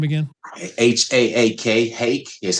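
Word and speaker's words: Haak: and what was your teacher's name again h-a-a-k hake is how he pronounced it Clyde h so you you essentially decided you're going to become a combination of Clyde hake and Coach Wallace is that right that's right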